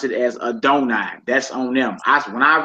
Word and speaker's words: Adonai: When this 4-letter name appears in the Bible, the Jewish practices pronounce it as Adonai.